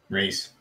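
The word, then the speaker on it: Rhys: The Welsh way of spelling Reese, that start bit. Sorrow. What a sorrow one. You want an invite? Alright, dude. Yeah, I'm well, thanks, mate. There you go. Reese HG.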